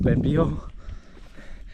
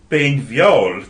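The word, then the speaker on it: Beinn Bheòil: Summit of Ben Beal. This man will pronounce it for you better right now. Ben Viol translates as the Fore Mountain, referring to its position in front of Ben Alder.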